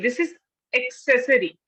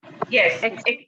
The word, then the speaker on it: accessory: Okay, Namita ji, what is the pronunciation? Accessory. Okay, Anita ji. accessory, ma'am. Okay, this is accessory. Accessory. Accessory. A double Double C. A double C. Double C. Yes, Accessory.